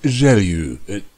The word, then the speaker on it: Gelu: Apparently his name is pronounced Gelu. I don't know why, he's not French.